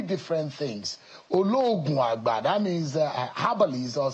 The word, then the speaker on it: Ologunagba: So you Ologunagba, pronounced Ologunagba.